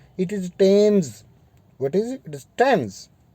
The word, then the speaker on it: Thames: D students, कुछ एक ऐसे प्रॉपर नाउन्स हैं जिसमें TH लिखा होता है, लेकिन वो प्रोनाउंस जो है वो ट होता है। बड़ा टिपिकल चीज़ है, आपको अजीब लगती होगी। लाइक एक वर्ड होता है टेम्स, जिस तरह आपने टेम्स नदी सुना होगा, THAMES, लोग इसको थेम्स पढ़ते हैं।